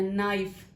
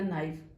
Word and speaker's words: knife: نے وہ دیکھنا ہے, نائف, لیکن آپ نے اس کا سپیلنگ ساتھ میں یاد رکھنا ہے کہ لکھتے وقت ہم اس کو کے میں بھی لکھیں گے, KNIFE, اور یہ بنے گا نائف.